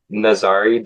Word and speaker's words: Nazariy: Nazari. Yeah. I probably wouldn't have gotten that. All good. Yeah. All good. The first my first name rhymes with safari if that's easier.